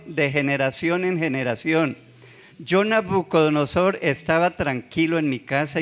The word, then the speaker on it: Nabucodonosor: Diga Nabú. Nabucodonosor. Nabú. Porque es que algunos pronuncian mal. Si le digo cómo pronuncian mal, se le queda aquí. Entonces por eso es Nabú.